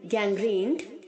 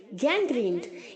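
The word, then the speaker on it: gangrene: यहाँ पर जो बच्चों आर के आगे सिंगल ई है वो डबल ई की तरह साउंड करेगा, गैंग्रीन। ओके, गैंग्रेन नहीं बोलेंगे आप, गैंग्रीन। और जो एन के आगे ई है वो साउंड नहीं करेगा।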